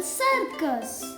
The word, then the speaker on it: circus: For example, circus. In this word, letter C is 2 times. But you notice it's make different sound. First, C is making sound S, and second, C is making sound K.